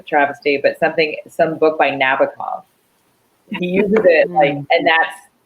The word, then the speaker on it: Nabokov: I say Nabokov. Nabokov. I say Nabokov, but I think there's a boke in the middle.